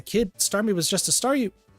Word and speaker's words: Staryu: Starmie was just a Staryu. I could never pronounce its name right. It always ended up sounded like saw you, guess I kind of reverted or something.